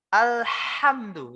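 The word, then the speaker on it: الحمد: Harusnya ini menggunakan hak kecil, Pak. Alhamdu, ya, haknya ini hak kecil.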